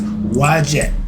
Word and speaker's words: Wedjat: The name for the I, again, my calling card, of Haru may be pronounced as Wajet okay, spelled Wedjat, or Ujat, Udjat, or Ushat, Utchat.